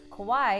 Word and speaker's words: Kauai: Kauai is the garden isle, known for its gorgeous Napali coast. Did you notice how Jen said Kauai?